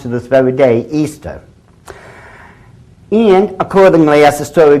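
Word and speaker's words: Ishtar: Easter now a lot of people think it's pronounced ishta i-s-h-t-a-r people check the Babylonian chalmud once again it is properly pronounced to this very day Easter and accordingly as The Story Goes whoever found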